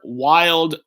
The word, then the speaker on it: Wilde: My full name is Wild. Wild. That's why I even said it on some videos. Wild with a silent E, with a not silent E.